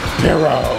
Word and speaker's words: perro: Can you say it right? Perro. There's two R's. That means you gotta roll. Do it.